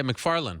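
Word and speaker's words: Macfarlane: Yeah, McFarlane. I saw her fight, and McFarlane, sorry.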